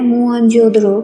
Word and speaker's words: मोहनजोदड़ो: दोस्तों, मोहनजोदड़ो शब्द का सही प्रोनाउंसिएशन है मोहनजोदड़ो। ये एक सिंधी भाषा का शब्द होता है जिसका मतलब होता है मुर्दों का टीला।